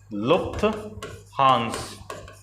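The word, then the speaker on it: Lufthansa: ठीक है, अगला प्रश्न है आपका, अगला प्रश्न होगा कि लुफ्थांस इसे कहा जाता है, सही से इसका प्रोनाउंसिएशन क्या है आपका, लुफ्थहांस।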